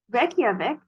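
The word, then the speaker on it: Reykjavík: Norwegian or the language spoken in Norway okay Reykjavik is the capital city of Iceland and yes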